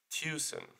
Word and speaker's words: Tucson: will be in the arizonian city of txan which should be pronounced tuen or tcen um um the city